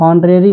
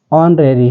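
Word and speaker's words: honorary: से यूज कर पाएंगे इसको आप हॉनरेरी नहीं पढ़ेंगे ऑरेरी है जिसमें एच साइलेंट है और एच के तुरंत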